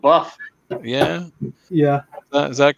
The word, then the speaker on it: Bath: The Flaming Tunnel says the way I put it, you have a wash and a bath, but you live in Bath.